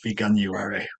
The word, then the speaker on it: Veganuary: pronouncing the word banuary so it's vegan plus January veganuary what is veganuary it's